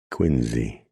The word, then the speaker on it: Quincy: She spoke the name softly, giving it the New England pronunciation of Quinzy, and she knew it was so.